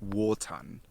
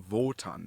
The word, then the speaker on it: Wotan: is old high german wotan it's not actually pronounced v as in voton that is much later the old high german pronunciation of w is simply w so from proto-germanic we